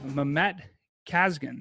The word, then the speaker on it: Mehmet Kazgan: Today we have Mehmet Kazgan.